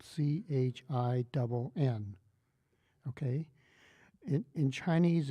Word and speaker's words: Chin: you an example all right my last name is spelled c h i n okay in in Chinese it's a specific word